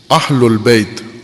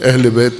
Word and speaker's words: اہل البیت: اہل البیت، اہل البیت ہوتا ہے، اہل بیت نہیں ہوتا. اہل پنجابی ہے، اہل عربی ہے. عموماً ہم عربی پنجابی میں تلفظ کرتے ہیں اہل بیت. اہل البیت زبر ہے اس کے اوپر.